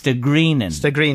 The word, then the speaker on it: Stagrennan: brought me into St greenin you see so that's the way you and I heard Leo pronounce it there I said greenin but it's St greenin is the proper pronunciation yeah go on and